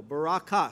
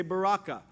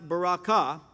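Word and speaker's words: ברכה: the Hebrew word Baraka the emphasis the accent is on the last syllable Baraka sometimes we say Baraka really doesn't matter but it's pronounced Baraka and it comes from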